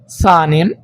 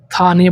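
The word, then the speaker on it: ثاني: সানি, অনেকে এটা আবার থানি বলে উচ্চারণ করেন, তো আপনার যেটা ভালো লাগে বা আপনি যে স্থানে আছেন যেটা ব্যবহৃত হয় সেটাই ব্যবহার করবেন।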